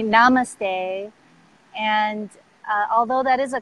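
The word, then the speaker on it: नमस्ते: you know Indian culture namaste is it is pronounced namaste and actually I'm glad you said that the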